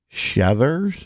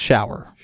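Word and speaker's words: Schauer: his name was Mitch shudders it's actually pronounced shower shower yeah oh it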